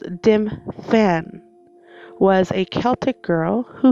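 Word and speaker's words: Dymphna: It's pronounced Dimfan.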